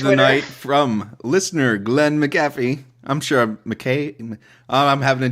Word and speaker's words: McAfee: night from listener Glenn McAfee. I'm sure I'm having a DW moment Glenn, now. how do you pronounce your goddamn name? I bet it's McAfee. McAfee There we go.